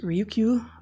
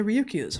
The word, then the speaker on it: Ryukyu: These are found off of the, I think it's pronounced Ryukyu Islands in Japan, between just north of Taiwan.